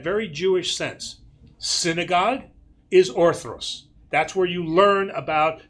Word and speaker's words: orthros: But learning about who the event and God is, that's orthros. So, 2 things. It is spelled O-R-T-H-R. Okay. O-R. Yes, O-R, not O-T.